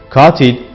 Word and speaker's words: katil: Örnek, katil, cahil gibi kelimelerde vurgu ilk hecede yani uzun A sesinin olduğu hecededir. Uzun A sesi farklı hecelere kaydığında vurgu da o hecelere kayar.